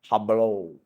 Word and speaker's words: Hublot: Ini jam. Hublot. Bukan hublot, bukan. Hablo. Ini jam tisau, bukan tisot.